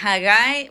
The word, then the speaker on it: Haggai: si lo pronuncio bien Sí hagai bueno tiene varias pronunciaciones verdad Pero básicamente en español sería hagai eh en realidad en español